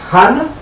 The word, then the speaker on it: Hannah: Dice aquí la palabra Hannah o Hannah, que se pronuncia Ana también.